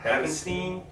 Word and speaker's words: Havenstein: Havenstein?